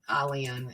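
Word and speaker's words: Aylan: We don't have a lot of, but anyway, so I saw Alian is actually how you pronounce his name, but face down in the sand.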